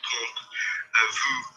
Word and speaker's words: temps: I don't say tomp. What do I say? I say. Combien de temps?